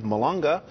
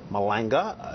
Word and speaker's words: Malanga: Chief Economist for Vice President Joe Biden Steve malunga Malanga that's how you say I should pronounce it you say malangas Manhattan Institute senior